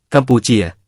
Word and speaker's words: กัมพุช: พ สลับที่กันได้ ยุคหลังพระนครจะเปลี่ยนเป็น ‘กัมพุช’ เสียงเขมรยุคหลัง ออกเสียงว่า ‘กัมปูเจีย’ ซึ่งก็คือคำว่า กัมพูชา ตำนานเล่าว่า ฤๅษีกัมพุ หรือท้าวกัมพู สวยัมภู